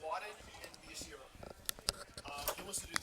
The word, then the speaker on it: Miyashiro: Miyashiro.